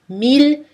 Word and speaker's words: mille: i famille billets filles on prononce elle par contre dans les mots mille ville tranquille achille et tous leurs